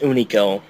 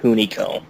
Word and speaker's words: Hunico: it's pronounced Unico, not Hunico.